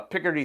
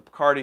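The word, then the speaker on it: Picardy: the picker d third i used to always call it the cardi third i think it's picker d third is the right way to say it so the idea here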